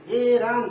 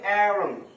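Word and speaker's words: arum: অ্যারাম, অ্যারাম, এরাম, বলি না এরাম। এটা উচ্চারণ হবে অ্যারাম, অ্যারাম।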